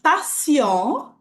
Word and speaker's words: patient: Se eu falar patient, só, sem pronunciar o T, é um paciente, só que é um homem.